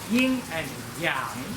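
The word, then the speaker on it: yin and yang: ying and yang so the proper Chinese pronunciation is ying and yang so that's ying and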